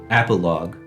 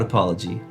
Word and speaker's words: Apologue: I do want to point out that I actually know that the name of the game is pronounced Apologue, not Apology.